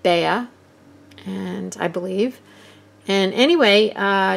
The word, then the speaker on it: Bea: Today's video is a collaboration with Bea Grob, and that is the English pronunciation of her name. She pronounces it Bea, and I believe.